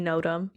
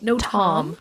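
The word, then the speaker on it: notam: two books notem well you'd think it would be notem but it's no tom no no tom no tom's allowed o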